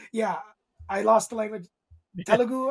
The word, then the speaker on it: Telugu: Telugu, I believe it's pronounced.